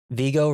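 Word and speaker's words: Viggo: Vigo rhymes with ego.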